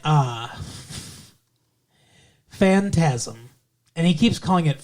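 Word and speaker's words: Phantasm: to me but like it's Fantasia instead he's like what supposed to be Fantasia suppos be fantasm and it's like it's fantasm do you not know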